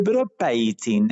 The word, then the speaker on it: bropiating: es el es el broad paising así se pronuncia exactamente qué tiene que